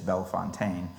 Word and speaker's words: Bellefontaine: First thing people ask me all the time, beyond the proper pronunciation, which is Bellefontaine, what's the best time to come to the cemetery?